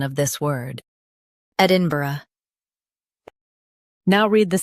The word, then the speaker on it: Edinburgh: Ed in B uh Edinburgh. Stress ed and keep inbur smooth. Ed in B. Uh, Edinburgh.